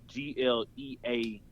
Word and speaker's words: GLEAT: Either Pro Wrestling Noah or this other company called GLEAT, or it's pronounced it's spelled GLEAT, GLEAT, but it's pronounced GLEAT, I want to say.